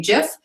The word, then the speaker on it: gif: is the correct pronunciation a lot of people say Jeff uh that might be the correct pronunciation there doesn't seem to be a final ruling on map because of